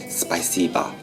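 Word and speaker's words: Спасибо: are weakened For example the Russian word for thank you is pronounced Spasibo Where the final o is reduced to a sound similar to a Ukrainian sounds rhythmic And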